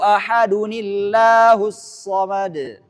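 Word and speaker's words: أَحَدٌ اللَّهُ الصَّمَدُ: Qul huwallahu ahadunillahus samad. Nah, itu cara baca yang benar.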